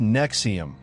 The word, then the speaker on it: NXIVM: The new name was NXIVM, pronounced Nexium, like the heartburn medication.